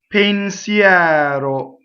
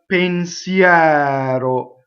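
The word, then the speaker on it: pensier: sing two notes a pain Seattle so this dress is on pin Seattle so the stressed vowel is open the unstressed is closed how many times have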